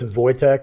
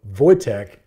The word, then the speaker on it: Wojtek: what most people say so it's voch it's a Polish word so like I looked